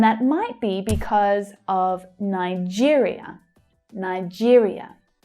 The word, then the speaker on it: Nigeria: And that might be because of Nigeria, Nigeria, where you hear the second syllable stressed. Nigeria. That's the ear as in here vowel sound.